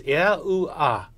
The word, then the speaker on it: Yahuwah: When these letters for God's sacred name are pronounced out together in their vowel forms, they would be pronounced as Yahuwah or Yahuwah.